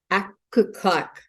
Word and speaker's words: Aglukark: Today's special guest on Zoom is Canada's own Susan Aglukark.